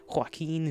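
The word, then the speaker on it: Joaquin: it the name cuz I've always heard it like be pronounced rather strangely hain phoenix that's how I've always heard it being pronounced all right Schedule.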